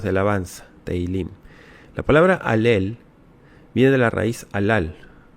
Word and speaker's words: Halel: Eh, y mucha gente erróneamente dice jalel. No es jalel, es alel. Alel. No es tejilim, es teilim. Teilim. Teilim significa alabanzas, cánticos. Sí. Cánticos de alabanza. Teilim. La palabra alel viene de la raíz alal, que es exaltar, alabar.